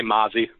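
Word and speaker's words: Mazi: Is it Mazey or Mazzy Smith? Say Mozzie. Mozzie Smith. Okay, Yep.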